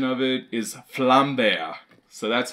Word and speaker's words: Vlambeer: pronunciation is correct because as you can see it's a little bear and then there's a flame behind him so it's flam they're not Vlambeer as us Americans like